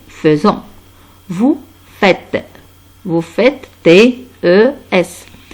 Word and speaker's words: faisons: Et s'écrit F-A-I. Mais se prononce nous faisons.